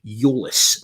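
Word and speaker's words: Tzolis: greek accounts that i saw on twitter that's pronounced euless now with that in mind um the few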